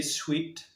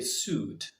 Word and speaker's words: suit: word do they say did you say sweet it's not correct again we say suit suit for example the color